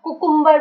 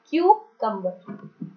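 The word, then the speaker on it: cucumber: क्यूकम्बर, खीरा को कुछ लोग कुकुम्बर बोलते हैं, बहुत ही गलत प्रोनंसिएशन है, इट्स क्यूकम्बर।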